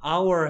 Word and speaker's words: hour: H가 뮤트죠. 그렇죠. H가 뮤트란 말은 소리가 나지 않는다. 됐습니까? 그러니까 얘를 발음 기호로 하면 자음으로 시작하는 거야, 모음으로 시작하는 거야. 그렇죠. 모음이니까 어를 하면 안 된다는 얘기죠.